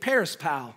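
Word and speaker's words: περισπάω: to describe Martha the Greek word for distracted is Perry's pal that's how you say it Parris pal it's kind of fun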